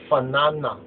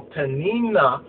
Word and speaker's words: Peninnah: But now what's interesting is now we find that the P can also be pronounced, the P sound can also be pronounced as the F sound. So here it's Fanana, Fanana. Now Fanana or Peninnah, according to the Hebrew, let's go further than this.